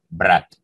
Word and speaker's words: Брат: hablar de la película brad en ruso se pronuncia si hermanos bratt vamos a hablar específicamente